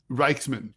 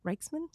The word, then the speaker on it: Rijksman: Reichman. Reichman. Reich, like the Third Reich, unfortunately. Like the Third Reich. Patricia Reichman. Mm-hmm. Mrs. Reichman. Patricia Reichman. Man, it's not a hard name. It's Reichman.